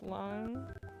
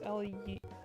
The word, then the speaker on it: Leung: I think it's Nicholas Lung. I think is how you pronounce it. It's Leung.